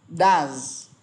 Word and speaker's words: does: thêm s thành does mà nó thêm es và đọc nó bị thay đổi cách phát âm thành does.